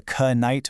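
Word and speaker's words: knight: In fact, before the 15th century, you actually would have said, "I know the k night will k nock."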